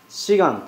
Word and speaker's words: 此岸: すので、この岸と書いて四岸と言います。